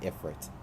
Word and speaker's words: Ifrit: Ifrit, or Ifrit, or however you like to pronounce it. I call it Ifrit.